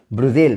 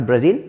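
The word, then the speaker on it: Brussels: Capital है, Belgium की capital है ब्रुसेल, नॉट ब्राज़ील, ब्रुसेल। इसको मैं हिंदी में लिख देता हूँ, प्रोनाउंसिएशन दिक्कत ना है।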